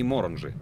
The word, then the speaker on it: Моранжи: На первый слог ударения. Я ищу человека по имени Моранжи.